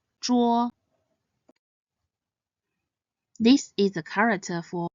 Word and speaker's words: 桌: Next, this is the character for table, Zhuo. It is made up of the initial Zhi and the compound final Wo. Zhi, Wo, Zhuo. This character should be pronounced in the first tone. Zhuo, Zhuo.